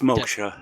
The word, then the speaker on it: Moksha: could pronounce it better is it maksha or moksha it's moksha yeah the moksha desktop so if you really